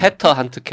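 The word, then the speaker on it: Peter Handke: 이야기라고 보겠습니다 어 일단 우리는 직접 jyp 는 피터 한트케 라고 이제 미국 집으로 있는 거의 익숙해 졌는데 에 도기로 껀 오지리 어서 스틸라 가기 때문에 페터 한트케 라고 읽는 걸로 하죠 굉장히 올로 자 거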